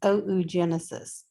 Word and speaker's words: oogenesis: So, primary female reproductive function is oogenesis. And yes, in Latin, you got to pronounce all the letters.